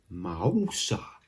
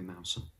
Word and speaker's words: Mouser: we've had this confirmed, she actually prefers it when you pronounce her name Mari Mausa. Just kidding, Mary Mouser. I think she wouldn't mind if you called her Mary Mouser, but I think it's meant to be Mary Mouser.